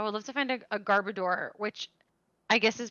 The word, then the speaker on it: Garbodor: love to find a garbador which i guess is pronounced garbodor like odor but i'm just going